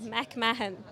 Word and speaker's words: McMahon: stop right there again her last name is pronounced McMahon and then you have